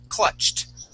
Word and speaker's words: clutched: ends with the CH when you add an ed D here okay that then sounds like a t all right the word is clutched clutched good one more